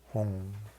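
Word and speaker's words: hung: For me it comes out home, but I see it written as home. No, H-U-N-G. Is whom Sanskrit? Yeah, Hong. It represents the Buddha's mind, wisdom.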